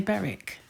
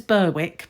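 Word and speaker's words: Berwick: Too this is the I would say Beric sweater and it says Burwick but I think it's Beric we do that in the UK we don't we have silent letters um this cute kids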